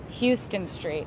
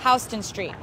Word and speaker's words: Houston Street: Houston Street, most commonly confused with the pronunciation Houston Street. When you get here and you see the sign, you'll think, oh, Houston, Texas, Houston Street. Incorrect, Houston Street.